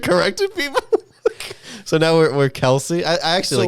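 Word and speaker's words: Kelce: One of the players on the Chiefs said, it's not even pronounced Kelsey.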